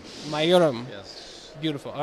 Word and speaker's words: Mayuram: How do I pronounce it correctly? It's Mayuram. Mayuram.